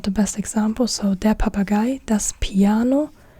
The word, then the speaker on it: Papagei: So yeah, here we have the parrot, and this is der Papagei, the parrot, der Papagei.